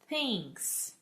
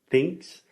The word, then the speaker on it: thinks: this in sound school, what's the difference between when I say it correctly and say thinks? What am I doing with my mouth? And then when I say thinks, what is the difference? The difference between those is the correct way you should put